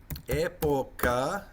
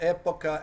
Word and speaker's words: época: Época. Oops, need to go back and put an accent on there. That would be E with an accent, P-O-C-A, época.